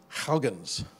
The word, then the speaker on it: Huygens: to the Saturn system I pronounce Huygens but I gave a presentation to a bunch of Dutch students and they corrected me and it's more like Huggins that's not quite right